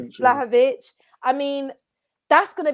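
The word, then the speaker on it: Vlahović: Whether we get that, I can't pronounce his name. Is it Vlahovic? Vlahovic.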